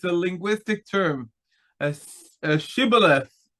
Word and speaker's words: Shibboleth: They cannot pronounce it as Shibboleth. How exactly they do pronounce it is a very big discussion. We read it as Sibolet, but probably wasn't like exactly a difference like an SH and an S.